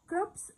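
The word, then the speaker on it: crops: كروبس معناها محاصيل زراعيه، والسي بنطقها بصوت حرف الكاف.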